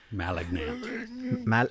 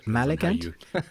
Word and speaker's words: Malignant: Malignant. Malignant? Malignant. It really depends on how you put the emphasis on which syllable, but Malignant.